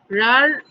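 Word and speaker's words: রাঢ়: রার রাধা কিন্তু হবে না, এটা হচ্ছে রার, মানে ওই যে ঢয় শূন্য র যেটা, সেটাকে জোর দিয়ে উচ্চারণ করতে হয়, রার।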